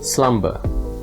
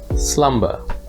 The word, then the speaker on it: slumber: bur but it's plummer meanwhile slumber which means sleep does not have a silent b so it's pronounced clearly slumber plummer slumber so that's it for